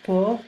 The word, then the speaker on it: porc: Donc le porc, ici on prononce porc, on ne prononce pas le C.